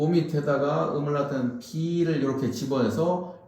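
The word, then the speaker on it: 鼻: 코는 비라고 읽습니다.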